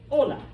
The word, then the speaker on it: hola: no someone went uh no are silent you don't pronounce them so that is why we do not think hola all right it's hola you just pretend the H isn't there it's a holdover from